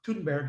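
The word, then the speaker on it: Thunberg: to her anyway it's greater than berg or tudenberg i think she pronounces it from swedish from sweden the social uh sustainability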